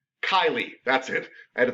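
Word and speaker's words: cisterna chyli: mr lee cisterna and it's not chili it's kylie that's it i had to think for a second everybody cisterna kylie uh is the way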